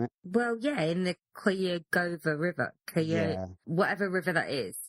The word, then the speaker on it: Cuyahoga: Well, yeah, in the Cuyahoga River. Whatever river that is. Good job on the pronunciation. Cuyahoga River, that's it.